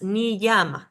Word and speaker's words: niyama: En el caso de niyama, que se escribe niyama con una I latina y luego una Y, entonces cuando lo tengo que pronunciar, tengo que sonar como si hubiera 2 I latinas seguidas, niyama, niyama.